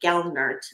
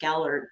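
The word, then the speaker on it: Gelernt: So this lead attorney Lee Gelert I believe Gellard is how you pronounce his name.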